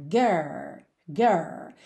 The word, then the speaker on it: girls: girl girl tá pensa nesse R porta perna girls girls depois você faz o l língua no céu